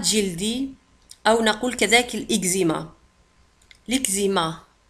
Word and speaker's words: eczéma: l'eczéma تكتب ب E C Z E accent M A تنطق l'eczéma l'eczéma l'eczéma l'eczéma.